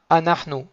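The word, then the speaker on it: אנחנו: Nous, masculin ou féminin, ça se dira anahnu.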